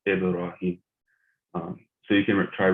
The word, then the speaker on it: Ibrahim: So you have a ba with a sukun on it, so it's always pronounced Ibrahim.